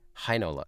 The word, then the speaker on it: Heinola: EI is pronounced I. Interesting. Hi. Hi. Heinola. Yeah, okay, so that's the same as German.